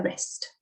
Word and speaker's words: wrist: James tapping her wrist. So TPing her. Wrist is RST, S outside your angle, remember W is silent.